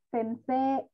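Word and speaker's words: 先生: kalau U diikuti U, kalau E panjang itu maksudnya diikuti dengan I, kayak sensei, gakusei, kayak gitu, itu harusnya dibacanya sensei, gakusei, gitu. Jadi dia panjang.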